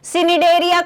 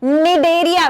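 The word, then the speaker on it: Cnidaria: यहां पर ठीक है एसिड एरिया कोई भी मत बोलना निदे रिया बेटा सी साइलेंट है डियर स्टूडेंट्स ईएस साइलेंट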